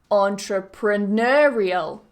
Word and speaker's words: entrepreneurial: entrepreneurship the next one entrepreneurial entrepreneurial so notice how that primary stress the main stress always falls on that n entrepreneur entrepreneurial entrepreneurship it always goes on that Nur syllable do you want to